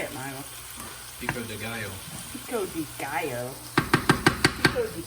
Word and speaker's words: pico de gallo: So I'm going to do some pico de gallo. Did I say that right? No. I didn't. I butchered that, didn't I? Say it, Milo. Pico de gallo.